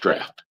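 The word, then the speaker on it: draught: That is spelled drought. that's pronounced draft is you're dealing with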